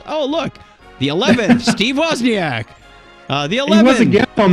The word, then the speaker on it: Wozniak: this date in 1950 i believe he pronounces it wozniak what'd i say